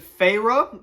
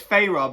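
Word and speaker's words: Feyre: debatable first name pronunciation is it fair is it Farah I know it's Farah but like when I read it I thought it was far one of the evil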